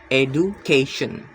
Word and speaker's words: education: The stress is on the third to last syllable, education.